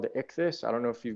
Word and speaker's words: ichthys: can see that the priest created called the ichthys i don't know if you guys have ever heard of this it's it's spelled i-c-h-t-h-y-s for those who want to research